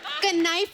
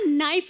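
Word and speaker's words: knife: कनाइफ नहीं होता नाइफ होता है। केस साइलेंट रहता है।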